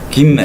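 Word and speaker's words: גימל: 이제 좀 이렇게 강하게 하긴 하는데 김멜. 그러면은 요거는 무슨 발음일까요? 기억 생각하면 되겠죠.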